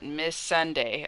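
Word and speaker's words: Missandei: you pronounce it, Miss Sunday.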